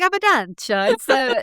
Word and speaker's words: Abundantia: Yeah, it's like Abundantia. It's Italian / Latin.